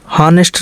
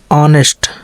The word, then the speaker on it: honest: कुछ शब्दों में जो है यच तो रहता है लेकिन उसको पढ़ा नहीं जाता है, उसका उच्चारण नहीं होता है।